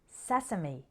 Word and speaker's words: sesame: often with violence now in those seven words we just practiced the final e sounded like e recipe posse sesame but in the next